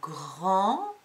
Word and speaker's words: grand: N'oublie pas que le mot grand au féminin donne grande. Donc au masculin, grand s'écrit avec une lettre muette.